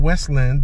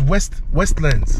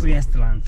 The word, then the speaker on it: Westlands: I think it's called, I keep saying Westland, but I hear you pronouncing it differently. Yeah, it's Westlands. Westlands.